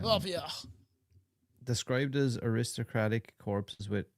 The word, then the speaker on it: upyr: How the fuck do you even pronounce that? Yupia. It's Russian. Yupia.